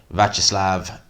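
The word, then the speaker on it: Viacheslav: didn't catch the full jordan thompson fight against vacherslav is how you pronounce the guy's name it did seem to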